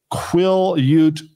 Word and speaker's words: Quillayute: schools up in north western washington state at quill ute valley school district do i have that right